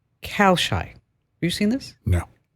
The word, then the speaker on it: Kalshi: Yes, and it's Kalshi. Yeah. Okay, I didn't know how to pronounce it, obviously.